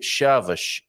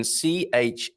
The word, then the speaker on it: Chaves: How do we say chaves? As in Chaves?